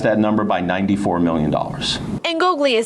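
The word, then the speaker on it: Ingoglia: Ngoglia is how you pronounce it.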